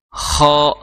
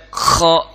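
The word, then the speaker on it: خ: ko itu lemah karakternya Jadi cukup KH ak KHO KHO seperti itu jangan sampai koho Kho seperti itu jangan sampai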